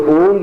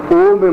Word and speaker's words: ओम: ओम में म ध्वनि है, जो ओंग नहीं ओम है। फिर है रींग, इसमें ग की ध्वनि है, रींग। फिर स्त्रींग, हुम फट, इसमें ओ में म की ध्वनि है,